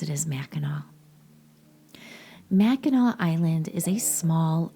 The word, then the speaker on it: Mackinac: Now, it's spelled Mackinac, but we all pronounce it as Mackinac.